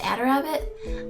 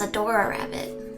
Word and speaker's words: Adarabbit: Oh, it's pronounced Adarabbit? I thought it was Adora Rabbit. You don't have to tell her that. Adora Rabbit. Like adorable.